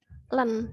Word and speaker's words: ln: Di sini tuh cara bacanya adalah ini len, dibaca itu len X.